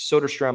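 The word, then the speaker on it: Soderstrom: forgot I for uh it's sod strum I believe is how you properly pronounce his name he's with the Oakland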